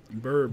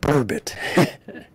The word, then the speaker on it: burbot: Bourbon. Bourbon. How do you spell it? Oh, geez, I don't even know. Not bourbon, but bourbit.